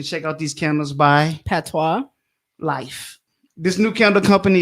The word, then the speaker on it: patois: giveaways over here so the word is p-a-t-o-i-s but it's pronounced patois how'd you know that